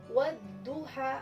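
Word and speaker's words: والضحى: Kemudian yang kedua wadduha. Nah, wadduha di sini ada alif lamnya, tapi alif lamnya tidak terbaca kalau penulisannya. Nah, dibaca tidak dibaca alif lamnya. Wadduha.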